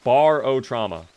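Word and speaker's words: Barotrauma: It is pronounced bar o trauma.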